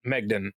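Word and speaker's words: Maighdin: name in the notes because the way that it's spelled actually is like Magdane or something. I don't know. It's whatever. And Megden is the way that they say it in the audiobook.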